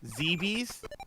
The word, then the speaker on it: Zebes: I I mean I I guess you could say zebes yeah since it's kind of pronounced and it kind of spelled like feces yeah like a z